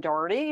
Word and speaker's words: Dougherty: everybody as James said my name is Doherty I know that's not the usual pronunciation for what you all are used to um but it's how we say it here in the US um my pronouns are